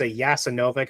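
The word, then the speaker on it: Jasenovac: ustasha particularly in the I think it's pronounced a yasan noic if I'm not mistake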